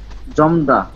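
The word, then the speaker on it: 젊다: জমদা। হ্যাঁ, জমদা। উচ্চারণ কি? জমদা। জমদা। এখানে জমদা। মিউমের উচ্চারণ হবে, রিয়েলের হবে না।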